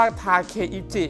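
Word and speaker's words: 武一: นะ ฮะ อ่าน ได้ 2 แบบ อ่าน ได้ ทั้ง คำ ว่า บู และ อ่าน ได้ ทั้ง ทาเคชิ ครับ ที่ แปล ว่า นัก รบ หรือ ทหาร ก็ ได้ นะ ฮะ ส่วน ตัว เ นะ ฮะ อ่าน ว่า อิจิ ที่ แปล ว่า เลข 1 ครับ พอ รวม ผสม กัน นะ ครับ ก็ เลย อ่าน ได้ ว่า ทาเค อิจิ ครับ ซึ่ง เป็น ชื่อ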